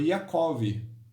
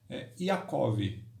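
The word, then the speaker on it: יעקב: O nome de Jacó no original hebraico é Yaakov. Yaakov.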